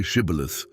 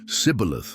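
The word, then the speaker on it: Shibboleth: The difference in pronunciation was subtle, just the initial consonant, but it revealed a speaker's regional origin. The Ephraimite said cibilith lacking the esh sound.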